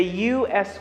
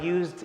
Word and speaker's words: US: administration it's basically the u.s organization that is responsible for space and travel and space study notice that i used u-s and notice how i pronounced it i said u s i didn't say us